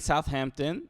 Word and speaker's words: Southampton: that's kind of crazy you don't pronounce the h not you you're not